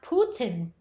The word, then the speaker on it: Putin: Ram Kitty said, Putin is pronounced Putin.